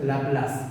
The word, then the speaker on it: Laplace: Se pronuncia Laplace, es un apellido, ¿ya?